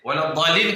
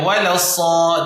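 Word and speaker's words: ولا الضالين: Waladdallin kau jangan baca walassad.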